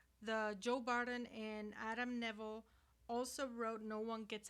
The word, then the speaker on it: Nevill: Neville Neville.